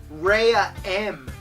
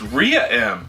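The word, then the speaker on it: Rhea-M: yes after the comet ray M passes why is it called ray well you ignorant bastard I do believe that it's pronounced Rhea M Korea M well I'm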